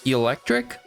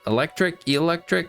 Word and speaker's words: Eelektrik: And we also have this new Eelektrik. I think that's how you say it. Eelektrik. There's 2 E's there, like an eel.